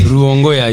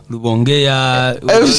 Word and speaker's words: Rubongoya: Rubongoya is the name, except that many people here like to call me Rubongoya, all sorts the of... R is moved to an L.